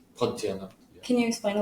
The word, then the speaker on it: Pontianak: Yeah, but also people will say that they'll see, I don't know if I'm saying this right, but like Pontianacs. Is that how you say it? Pontianak.